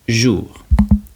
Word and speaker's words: jour: We pronounce jour.